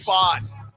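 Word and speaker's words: Pfaadt: umpiring performance was terrible bro I needed Brandon fought to have 5Ks and he finished with four because you didn't want to ring up the Texas strangers it's spelled terrible pitcher but pronounced fot yeah f is come on now help me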